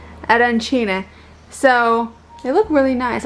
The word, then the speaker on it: arancine: Raph got these arancina? Arancine.